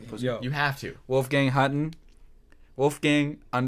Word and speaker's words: Hutton: Wolfgang Hutton. Wolfgang _ Hutton. Spell that. Hutton, like button with an H.